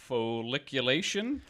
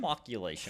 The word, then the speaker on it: flocculation: Okay, next up after coagulation is something, I'm going to say this wrong, folliculation? Folliculation? I don't think so, but go ahead. How do you say that? Flocculation? Flocculation. Flocculation, okay.